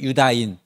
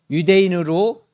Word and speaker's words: 유다인: 유태인 우리는 유대인 또는 유다인 그런데 원래 발음에 가까운 것은 유다인인데 유대인으로 너무 오랫동안 익숙해졌기 때문에 유대인도 통칭해서 쓰고 있는 거죠 유다인 또는 유대인 불리는